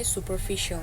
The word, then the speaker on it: superficial: Oke, tapi yang superficial itu bacanya superficial ya.